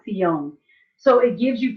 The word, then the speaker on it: Zion: So Zion is pronounced Sion.